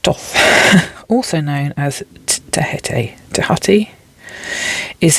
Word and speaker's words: Thoth: Oh, it's pronounced Thoth.